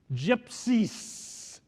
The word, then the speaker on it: GIPCISS: If you want to worry about all the mess in Europe, think of a simple phrase: gypsies. That is spelled G-I-P-C-I-S-S, gypsies.